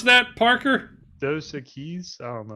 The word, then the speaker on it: Dos Equis: guess How what do you number- pronounce that, Parker? Dos Equis? I don't know. Dos Keys.